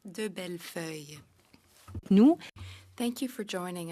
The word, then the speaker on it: DeBellefeuille: Now for 6 minutes, Madame de Belfoy. C'est bien, Monsieur le Président. Thank you very much, Chair. My name is pronounced de Bellefeuille.